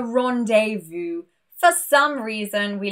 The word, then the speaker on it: rendezvous: And with the letter Z, it's exactly the same, a rendezvous.